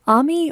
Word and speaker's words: Ami: And I'm is your last astounded. name pronounced Ami or Amy? It's on me. Ami, Oh, it is. okay. Oh. It is. Because when you said you were from Louisiana, I was like, I wonder if it's like the French pronunciation. So Ami, is it an Americanized version of friend?